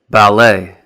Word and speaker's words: ballet: And some of these words will have the silent letter T as well, like ballet, gourmet, rapport.